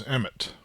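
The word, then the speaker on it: אמת: So the word there is emit. um sometimes pronounced MS uh if you're I guess uh uh pronouncing uh Ashkanazi uh Hebrew.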